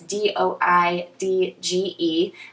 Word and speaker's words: Doidge: I believe it's pronounced Dodge or Doige. It's Doidge.